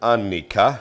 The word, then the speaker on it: Annika: know sis sister and then you can say my name because that's swedish you say like dad said it annika yes that's how we say it so today i always